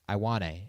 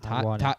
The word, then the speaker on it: Ioane: out of Penn State, which I just pronounced it wrong. Ioane is how you pronounce it. Ioane.